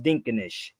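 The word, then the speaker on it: ድንቅነሽ: It's pronounced Dinkanish.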